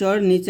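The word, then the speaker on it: know: স্বাগতম তো স্বাগতম লেখার নিয়মটা কি এই দ্বন্দস্ নিচে একটা ব দেই আমরা স্বা গতম তো এই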